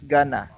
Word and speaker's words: gonna: Instead of 4 syllables, going to. be. Going to be, there are three syllables. Gonna be. Gonna be, yes. Yes, gonna. So instead of saying going to be, so there are four syllables, you only use three syllables.